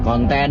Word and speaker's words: konten: k u dan n kemudian konten huruf k o n t e dan n Jadi bukan konten seperti dalam bahasa Inggris nah ini Tentunya memperkaya